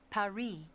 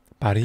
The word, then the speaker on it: Paris: Well, the locals pronounce it Paris. Paris.